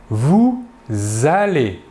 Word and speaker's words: vous allez: deuxième personne du pluriel vous allez là aussi nous effectuons une liaison entre le sujet et le verbe et enfin pour la